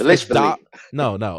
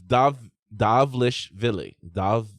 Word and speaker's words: Dvalishvili: I don't know how to pronounce it. Don't get me going. Dvalishvili. Merab doggone it. I was smooth. No, it's Dvalishvili. It's Dvalishvili.